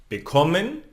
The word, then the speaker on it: bekommen: And here we normally pronounce the syllable after the prefix, like in bekommen, gewinnen, verkaufen. Okay, so it's not the first one.